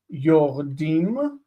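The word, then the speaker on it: יורדים: The vowel here is reduced. This is a vowel reduction, meaning that this is a medial shva, okay, vocal, which means there's no dagesh in the dalet after it. Yordim, yordim, and yordot, yordot.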